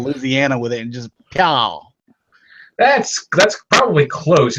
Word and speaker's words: Peaugh: Well, Dakota went all Louisiana with it and just Peaugh. That's probably close. It's just Peaugh. Peaugh.